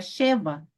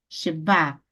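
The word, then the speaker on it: שְׁוָא: Essa palavra se deve pronunciar sempre Shiva. Observe aqui, Shiva com acento no A, tá bom? Shiva com acento no A e não um acento em no E, ou seja, não é She, não é Sheva, tá? Não é Sheva, e sim o quê? Sheba. A sílaba tônica está no final, tá, pessoal? No final, não é Sheva, e sim Sheba.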